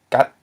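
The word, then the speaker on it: ກັດ: G is a mid-consonant followed by a short vowel a. and then then it ends with a dead syllable because it ends in a stop, which is what are the stops again? P, t, and k, right? And this ends in a t.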